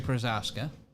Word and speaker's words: Procházka: yuri good god airy prashaska uh thank you for the correct pronunciation persons whose name is in cyrillic so i cannot say it but thank you so much yuri przaska good to know 47 significant